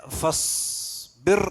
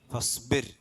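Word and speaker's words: فَاصْبِرْ: പിന്നെ ഫസ്ബിർ എന്നല്ല ഓതുക, ഫസ്ബിർ, ഫസ്ബിർ എന്നാണ്. റാ സാക്കിനക്ക് മുമ്പ് കെസ്ർ വന്നാൽ റാൻ തർഖീഖ് ചെയ്യണം എന്ന് പറഞ്ഞാൽ ഫസ്ബിർ, ഫസ്ബിർ അലാ മാ യഖൂലൂന, അലാ മാ യഖൂലൂന.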